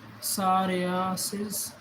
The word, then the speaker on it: psoriasis: It's pronounced as psoriasis. Actually, there are two pronunciations. Which you're talking about is the pronunciation from the British, and the pronunciation I'm talking about is a pronunciation from the is the American pronunciation.